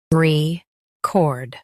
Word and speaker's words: record: Record. Both US and UK have the same pronunciation of this word. Say re like ray, then cord like cord.